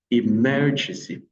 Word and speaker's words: emergency: Vous avez emergency, emergency, emergency, emergency. L'accent est placé sur mer, emergency, emergency.